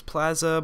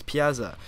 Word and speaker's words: Piazza: right like piazza um at first i thought it was plaza but then now i i actually played it and it's piazza so this is actually